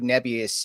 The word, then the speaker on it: Nebius: What's how do you say Nebius? Nebus. Okay. I've been saying Nebius. So, Neb could be.